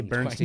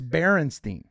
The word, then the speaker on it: Berenstain: Well, we all thought it was Bernstein, but it's Berenstein. No, I said Bernstein. It's the last letter. It's spelled with an A instead of an E. No. Yes, I promise you. It's stain instead of steen.